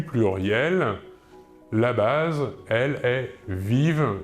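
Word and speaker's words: vivent: vivons à la deuxième personne du pluriel vous vivez et enfin à la troisème personne du pluriel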